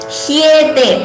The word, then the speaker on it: ह्येते: Hyete, please note the pronunciation. Ha and ya, hyete shashvat.